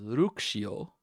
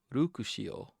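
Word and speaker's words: ルクシオ: Here we have Luxio as we think of him, but here we see it uh, pronounced as Rukushio. Rukushio.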